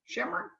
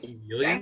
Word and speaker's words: chameleon: Chimeron of personalities. Chameleon?